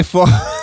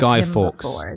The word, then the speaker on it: Guy Fawkes: Maybe that's just how all Americans, I've never heard Americans pronounce it before, but it's not half person, half fox. It's Guy Fawkes.